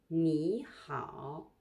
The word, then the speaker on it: 你好: Premièrement, la lettre H se prononce toujours en chinois.